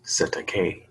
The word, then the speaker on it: Cestui Que: letters then it represents assistant QB trust pronounced cetacaine mmm common term in